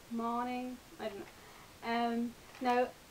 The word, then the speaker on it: Moning: by Karen Marie morning according to our website it's pronounced morning I don't know um